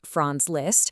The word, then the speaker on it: Franz Liszt: Franz Liszt, pronounced Franz Liszt, was known as the greatest piano virtuoso of his time.